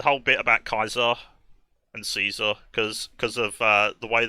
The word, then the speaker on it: Caesar: Roman Way of life the way they pronounce their C's was closer to a KY so the way the way we describe a Caesar which was like the Roman Emperor they described it as Kaiser and the best way